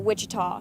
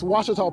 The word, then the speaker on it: Ouachita: for Washita Baptist University back in Texas everybody pronounces it Wichita but really it's Ouachita Ouachita Washington how would you pronounce it it's Ouachita Baptist University get it right it's Ouachita people it's Ouachita Washita